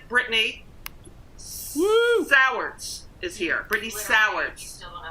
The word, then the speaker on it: Sowards: Brittany Sowards.